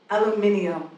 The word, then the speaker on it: aluminium: How do you say aluminium or Armageddon? Ah, for me, there interposes an extra syllable, an invisible I.